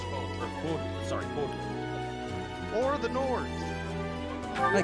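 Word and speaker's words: Fódlan: Also, How do you I looked up, and the game is set in Fuldan. Fodlan. It's pronounced Fodlan.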